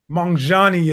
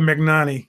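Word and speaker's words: Magnanni: because i talk about them so much my mongani as it's pronounced apparently i call it mcnani that's what it looks like to me um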